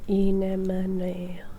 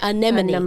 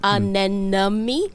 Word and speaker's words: anemone: Now, does anyone know how to correctly pronounce that word? This is the thing. Anemone. Anemone. Anemone. That's correct. It's not anami, it's the other.